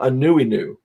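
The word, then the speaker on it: Anuenue: name of the book is an uh it's pronounced uh a newy new and a newi new means in hawaii it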